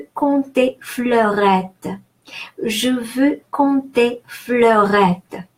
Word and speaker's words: compter: Compter. ON is nasal O, on, and final ER, it's a rule of pronunciation in French, is pronounced E, just like in the English word egg.